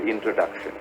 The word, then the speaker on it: introduction: The stress is on the 3rd syllable.